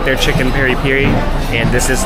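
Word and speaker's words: peri-peri: huge and also chicken Peri Peri is how you pronounce it Peri Peri which I feel like we always say Perry Perry but Shantal and I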